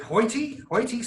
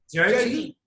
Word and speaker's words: Jyoti: And I have, is it Hoyty? Jyoti.